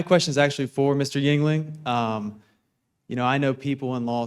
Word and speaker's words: Yingling: First, incredible pronunciation of Yingling. You did a spot-on job. It's like the beer, but I don't get any beer royalties, so we had to do Rhetoric instead.